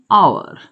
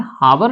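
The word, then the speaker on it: hour: लिखेंगे फॉर और एन आवर। ध्यान रखना दोस्तों, इसको हमें हावर नहीं पढ़ना है, एस साइलेंट रहता है, हमें आवर पढ़ना चाहिए।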